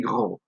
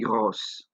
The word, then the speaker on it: gros: Another example here is this word, il est gros. He is fat. Ils sont gros. They are fat. Now, because gros already ends with a silent S, you don't do anything to make it plural in the masculine form.